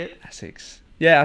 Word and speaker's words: Asics: Asics. Yeah, I say Asics. Yeah. Because we do Asics. the long A, Asics. We say Asics.